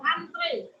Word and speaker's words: antre: Penulisan kata antri yang benar adalah antre. Antre, bukan antri, tapi antre. Antre dong. Tapi kadang-kadang kita suka antri. Yang benar antre. Ya memang ucapannya antri, tapi tulisannya antre.